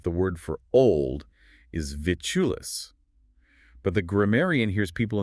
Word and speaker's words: vitulus: Vitulus has 3 syllables. It's a bit clunky to say rapidly. The stress is on the first syllable, vitulus.